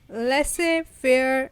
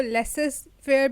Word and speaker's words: Laissez: अच्छा, बहुत से लोग इसको लेसेस फेयर भी कहते हैं। That's wrong. Z is silent. ये फ्रेंच वर्ड है और फ्रेंच कुछ ऐसी अटपटी होती है, लिखा हुआ कुछ होता है और बोलते कुछ है।